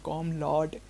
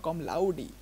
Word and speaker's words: Com Laude: wrong my whole life I was saying osama kam lord it's laudi osama kam laudi okay sir so from now I'm going to say osama kam laudi all right Let's go.